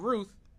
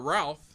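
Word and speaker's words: Routh: again and this guy Ryan Ruth or Ralph depending on how you pronounce it was sitting around being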